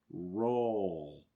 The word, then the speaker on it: roll: o o i can roll roll it's a little bit more complicated too when you have l sounds involved okay it's definitely a